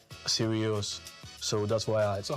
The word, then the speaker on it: Sirius: Be serious.